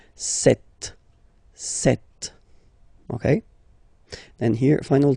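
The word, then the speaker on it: sept: doesn't exist so you got this set sound set set okay then here final T is pronounced so we remember in French this ash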